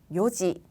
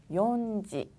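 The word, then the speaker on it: 四時: 요지, 요지 발음 주의하셔야 돼요. 얘를 연지라고 하지 않습니다. 혹은 시지라고 하지 않아요.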